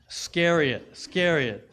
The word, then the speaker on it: Iscariot: Judas Iscariot.